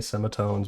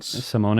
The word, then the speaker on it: Semones: how it's pronounced because I always call her May Semitones, but that is not her name. That's not it. May Simone. Simone, I believe.